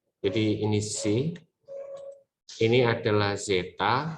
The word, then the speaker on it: zeta: adalah si ya Jadi ini sih ini adalah Zeta bacanya Yang ini adalah Hai ini tuh Zeta ya